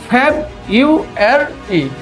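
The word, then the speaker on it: February: আমি এখানে আমরা সেটাকে সাধারণত প্রান্সিয়েশন করে থাকে ফেব ইউ আর অর্থাৎ জেন ইউ এরি মাসের প্রনান্সিয়েশন আমরা যেভাবে করেছিলাম এইটা ঠিক একইভাবে আসবে সেটা হচ্ছে জেন এর জায়গায় আসবে শুধুমাত্র হচ্ছে ফেব অর্থাৎ ফ্যাব ইউ আর ই আমরা যদি এটাকে ফ্ল্যাপ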